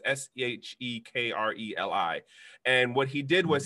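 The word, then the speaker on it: Shkreli: fund his name is Martin Ciccarelli I'm pronouncing it wrong but it's seh ek reli and what he did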